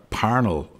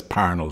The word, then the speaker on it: Parnell: with charles stewart parnell our panel is the correct pronunciation but nobody says parnol street you know i think